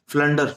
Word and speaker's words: flounder: Okay, फ्लंडर, फ्लंडर like a ब्लंडर, ऐसे याद किया करो वो केप को।